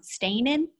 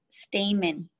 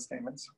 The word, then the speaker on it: stamen: And yeah, I like how Ronan had the stain, and I always say it wrong, stainin? M. Stamen. Pistil and stamens.